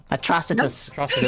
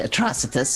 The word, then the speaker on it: Atrocitus: gonna be a talkative Atrocitus like atrocity I trust a test